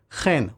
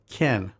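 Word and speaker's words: כן: The last word of the verse is a new one, chen, which is more often pronounced ken.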